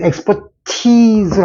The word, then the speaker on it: expertise: 그러니까, 엑스포트가 갖고 있는 실력, 문제, 티즈를 처리하는, 그 티즈를 처리하는 그 능력이니까 여기선 티즈, 엑스퍼티즈를 한다는 거예요. 티즈. 길게 발음해서 짧은 이하고 긴 이는 전혀 발음이 틀립니다.